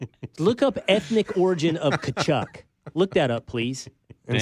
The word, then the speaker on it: Tkachuk: So the T is silent. Yes. Kachuk. Kachuk. Is that right? Just forget the T. Yep. Kachuk.